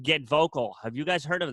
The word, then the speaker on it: GetVokl: But what she taught us about was a thing called Get Vocal. Have you guys heard of this? No, I have not. Okay, so Get Vocal, it's spelled GETVOKL.